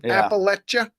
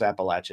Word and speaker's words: Appalachia: like the foothills of Appalachia. So I never really learned how to say it right. Yeah, here it is now. Thank you, Matt. Yeah, Thank you. Parquet says it's pronounced Appalachia, not Appalachia. Appalachia.